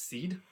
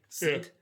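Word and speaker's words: sídhe: and became these things known as the I think it's seed s i d h e seed and the seed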